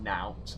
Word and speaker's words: knout: See, now I am actually going to briefly take the moment and look up what the hell Cool, you don't pronounce the K, it is just knout, and it's a heavy scourge-like whip.